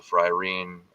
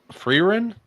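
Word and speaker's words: Frieren: The Fryne. Um, is it Fryne? Is that how it's pronounced? That elf show. Freein.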